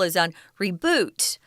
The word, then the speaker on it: reboot: reboot as Tom said if you use a reboot as a verb guys cuz we reboot our computers we start them again then the joking the the strong syllable is on reboot but here at the noun were saying reboot so anyway they're trying